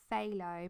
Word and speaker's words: phthalo: way I say thick Opeth Allah when it's phthalo path Allah and what's another one I've done so I've butchered so many things it's unreal and it's